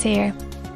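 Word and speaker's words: Haigha: happy his name is here he pronounced it so as rhyme with mayor I love my love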